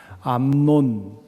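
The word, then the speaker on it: 암논: 돈황 자에게서 시작이 됩니다 암 논 발음을 잘 해야 됩니다 압살롬이 라는 이름도 좀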